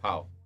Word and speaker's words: Pau: Pow.